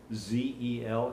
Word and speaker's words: Zellettia: Just for the record, her name is spelled Z-E-L-L-E-T-T-I-A, but pronounced Zellettia, not Zellettia.